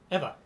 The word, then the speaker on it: Ava: Do you say it like that, Ava, or do you say it like Eva? Oh, Eva. Cool.